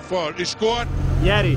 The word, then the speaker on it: Yeti: for 2 days here How is the name pronounced? yeti Oh ok, sorry, I didn't know Christian here too Did it go through a lot of boxing?